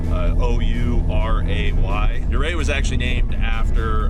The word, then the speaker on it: Ouray: And just like the town of Ouray, that's spelled very different, you know, for the how you pronounce it, O-U-R-A-Y.